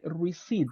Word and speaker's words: receipt: is mute you say receip receip receip exactly the letter P P is mute you don't say it receipt okay receip receit